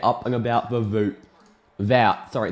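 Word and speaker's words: Wout: And on debut in the number 27, it's Voot Veg Horse. Get up and about for Voot. Vout.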